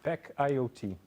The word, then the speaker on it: Pack IoT: E que tem a empresa do Cristiano é Pacaiota, é isso? Pack IoT, sim.